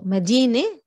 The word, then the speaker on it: مدينة: So مدينة, you're not pronouncing the round تا at the end, it becomes an e sound, but when you have noun annexation, it's going to change.